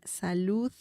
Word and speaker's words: salud: Remember the sound at the end when saying salud. Okay, so that's an important sound.